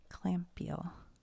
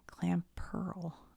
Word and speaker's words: Clamperl: Clampiel is a bivalve Pokemon. Hold on a minute. Oh, I thought that was an I. Okay. Clamperl. I said his name wrong.